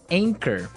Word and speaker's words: anchor: Anchor. Another boat word here. Anchor. Anchor. Anchor. Now, it's spelled A N C H O R. Right? But you don't pronounce the ch as you normally would, right?